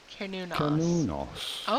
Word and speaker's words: Cernunnos: We are looking at how to pronounce Cernunnos. Cernunnos.